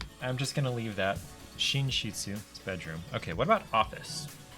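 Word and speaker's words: 寝室: Muro um so yeah if I were to read this in the pronunciation this would be neru Moodle but that's not the preferred reading the preferred reading is shinshitsu foreign oh that's embarrassing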